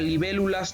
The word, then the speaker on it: libélulas: En el caso del segundo verso, en la palabra libélulas, nos damos cuenta que tiene el acento tónico en la antepenúltima sílaba, lo que significa que es una palabra esdrújula.